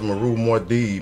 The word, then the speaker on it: Muad'Dib: This your man's Maru Mde man. And that's how you say my name.